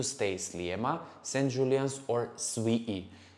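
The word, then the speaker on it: Swieqi: slimmer saint julian's or sweetie this is in maltese pronunciation but i'm pretty sure when you read it you will say swiggy guys these are the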